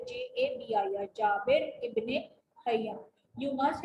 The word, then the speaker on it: Jabir: Then next is Jabir ibn Hayy. How do we spell? How do we pronounce it? Jabir, Jabir, Jabir ibn Hayy.